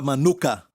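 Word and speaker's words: מנוחה: aqui é no hebraico a palavra Manuca tem até um mel com este nome Manuca certo mesma pronúncia Manuca certo Manuca Este é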